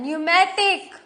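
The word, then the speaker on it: pneumatic: नाउ पी, यहाँ पे देखो पी साइलेंट. न्यूमेटिक, साम, साइकोलॉजी.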